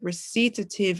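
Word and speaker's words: Recitatif: It's not the French pronunciation, but that's like my American way of saying it.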